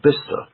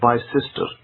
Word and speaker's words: Bicester: guess the correct grammar for that road was Bister. That's how most people pronounce it, because Bister is a small town, near kind of Oxford side, and most people will pronounce it as Bister, not as Bicester.